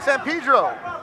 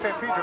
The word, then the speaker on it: San Pedro: Hector Felix, what's up in San Pedro? That's right, I said it right, San Pedro, not San Pedro.